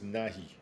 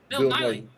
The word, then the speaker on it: Nighy: William Francis Nahi. If you get a chance, look at that. Oh, I'll Bill move it up. Nighy. Bill Nighy. Yeah, Bill Nighy.